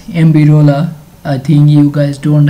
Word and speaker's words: MBROLA: for free TTS API I'm going to pronounce it as ambira I think you guys